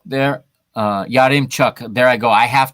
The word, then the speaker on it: Yaremchuk: Roman Yarmochuk there. Yarimchuk. There I go. I have to learn to pronounce this name correctly.